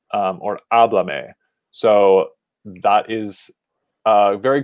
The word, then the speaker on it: háblame: to last syllable, but we say no, we actually want to keep it at the first syllable of the verb, like pásalos, pásamelos, or háblame.